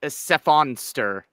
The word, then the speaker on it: Sephonster: By the way, Jazzy, if you want to pronounce my name, it's Sephonster. It's a combo of sephalopod and monster. You're welcome. Cool. Oh, Sephonster.